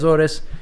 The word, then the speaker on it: Azores: island Sal Miguel today I'm in the aorus OR Azor depending how you want to pronounce it here they say aorus many people have heard